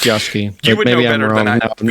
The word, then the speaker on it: Yasuke: Yeah, it's Yasuke. Yasuke? Okay, I thought it was Yusuke. I'm pretty sure that's correct. Pretty sure it's Yasuke.